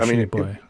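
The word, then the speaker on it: Tshiebwe: Shibwe? Is that how you pronounce it? Yeah, Oscar Shibwe.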